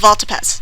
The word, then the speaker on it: Valtapaz: It's vault like bank vault or pole vault. As in what you say when you can't think of anything else to say, and Paz as in what? Well, the last syllable of Valtapaz.